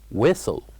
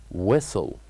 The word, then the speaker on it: whistle: have the word whistle whistle where we pronounce uh uh the word Whistle by keeping without saying the word or the letter H we keep it silent whistle whistle and also uh